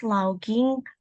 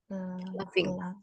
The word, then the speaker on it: laughing: Bacanya bukan logging, Bacanya tapi gimana nih? laughing. Laughing. Ya, Laughing. laughing. Coba diulang pakai laughing.